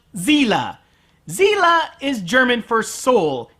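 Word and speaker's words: Seele: at it it's pronounced Zilla Zilla is German for soul and the Germans don't pronounce it s God damn it evangelon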